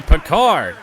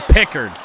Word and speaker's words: Pickard: And it's saved by Picard. Oh, wait, I forgot. Everyone had been saying his name wrong for years. It's actually Pickard. That's a weird one.